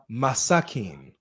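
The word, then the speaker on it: مساكين: No, it's miskin and masakin.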